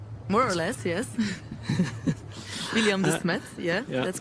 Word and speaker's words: William de Smet: Is that how it's pronounced? More or less, yes. William de Smet, yeah, that's correct.